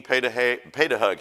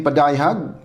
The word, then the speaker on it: Padayhag: Brother Dean paid a hug. He told me he said, pronounce it like this, paid a hug.